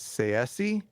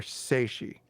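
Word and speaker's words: Tsaesci: It can be pronounced two different ways, Seesi or Seishi. I'm going to prefer Seishi.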